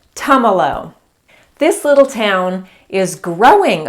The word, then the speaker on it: Tumalo: kinds of things but think of tums like tums for your tummy that's how you say it tomolo this little town is